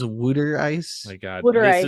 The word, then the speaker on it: water ice: It's water ice, pronounced here as wooder ice.